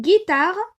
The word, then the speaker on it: guitare: pour comprendre de quoi il sèche alors une guitare bien sûr puisque je prononce ici que et qui est suivi du